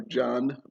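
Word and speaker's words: Djann: It is pronounced Jan or John. D-J-A-N-N, just like Jen.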